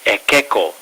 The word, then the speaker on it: Ekeco: it's got an unusual name we call it EO tequila and that's spelled e k Eco EO EO um the